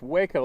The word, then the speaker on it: Waco: My name is Waco, pronounced Waco like the town in Texas.